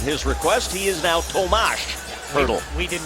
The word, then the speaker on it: Tomáš: That sounds like Thomas to you and me. Yeah. But in Czech, it's pronounced Tomáš. With an A-S-H at the end. So, at his request, he is now Tomáš Hertl.